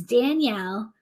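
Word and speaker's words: Danyelle: because its name is Danielle red oak leaf lettuce but it's spelled like Danielle yells and that's also very appropriate so it's d-a-n-y-e-l-l-e not like my name but sounds like my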